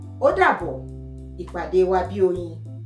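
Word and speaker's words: ó dàbọ̀: Odabo.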